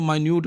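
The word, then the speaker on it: minute: उसके बाद next one जो वर्ड हमारे पास है इसकी प्रोनाउंसिएशन डिफरेंट है, इसको माइन्यूट बोलते हैं।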